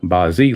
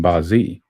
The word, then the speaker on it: Bazi: I hope they will be helpful in your journey towards understanding bazi and your destiny code. Bazi pronounced bi in Cantonese and Bazi in Mandarin means eight characters.